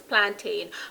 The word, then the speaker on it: plantain: of the word is plantain but you'll never hear a jamaican say plantain we always say plant plant so if you